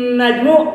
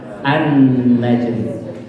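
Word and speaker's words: النجم: dibacanya ah ah Hai jadi ayah tiga bacanya bukan pun najmu go-car in najmu tapi bacalah an-najm ar-ra'd jemus babi bekerja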